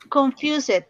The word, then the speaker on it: confused: La ed in English never, nunca suena ed.